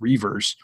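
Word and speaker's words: Reuvers: Reavers, it's spelled a little bit differently, but pronounced Reavers, gets to start at the 4 spot traditionally.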